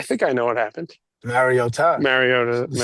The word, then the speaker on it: Mariota: point to his mom to get the correct pronunciation. Did you see the Did we talk about the Marota?